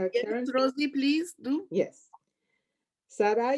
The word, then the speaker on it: Sara: And it is Sara, not Sarah. It is Sara and Esther. Okay, so the emphasis is on the second syllable.